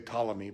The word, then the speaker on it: Ptolemy: We say Ptolemy, but it's spelled with a P.